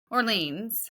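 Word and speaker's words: Orléans: But her nickname was the Maid of, we would say, Orleans. That's how we would pronounce it. But when I looked up the French pronunciation, it had Olio.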